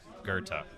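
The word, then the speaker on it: Goethe: Poe DuSable Electro drive if you are in Chicago and you want to sound like a local there's a street that's spelled g-o-e-t-h-e and it's pronounced Gerta from Chicago got some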